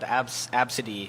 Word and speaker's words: Abcde: child, Absidy. Yeah, or which Absidef. is spelled ABCDE.